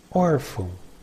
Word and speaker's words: órfão: Órfão, órfão, orphan. Órfãos, órfãos, orphans. Note the word órfão. It has acento agudo and chew. The tonic syllable is the one with acento agudo.